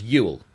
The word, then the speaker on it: Ewell: call here Ewell yeah they call it what Ewell why spelled e w e l l yeah I'll show you in the chat but it's U cuz EU is U yeah because why wouldn't